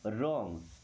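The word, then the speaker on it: wrong: really means सचमुच या सच में डिड डिड मी्स किया था रॉन्ग यहां पर डब्ल्यू साइलेंट है ना रॉन्ग रॉन्ग मी्स होता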